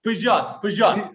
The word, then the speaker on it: Peugeot: dealership to being the number one Toyota and Peugeot. Am I pronouncing that right? Dealership? No, Peugeot.